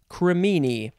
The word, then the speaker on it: cremini: this word wrong though is it cremini i'm looking back i never know how to say this word where did it go hello come on where are you uh i think it's cremini yes cremini that's the mushroom so you could spell